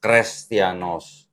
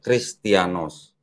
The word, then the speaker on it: Chrestianos: Ini opsilon namanya jadi ini bacanya kalau enggak dihapus harusnya crrestianos bukan christianos nah ini kelihatan kan seperti